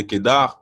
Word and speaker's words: Kedar: Donc, le R de Kedar se prononce bel et bien.